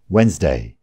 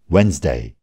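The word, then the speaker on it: Wednesday: यो शब्द हेर्दाखेरि वेडनेसडे जस्तो देखिए पनि डी को उच्चारण हुँदैन, यसको उच्चारण हो वेन्सडे। फेरि एकचोटि, वेन्सडे।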